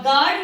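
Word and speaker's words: guard: गाय में भी यू के बाद आई आया है तो ये साइलेंट हो गया है। और गार्ड में भी यू के बाद ए जो कि वॉवेल है इसलिए यू साइलेंट हो गया है।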